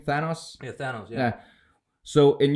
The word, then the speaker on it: Thanos: Is that how you pronounce his name? Thanos?